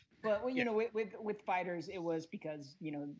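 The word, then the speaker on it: FighterZ: just to clarify just to clarify things it's pronounced Fighters and not Fighters I'm so glad you're clarifying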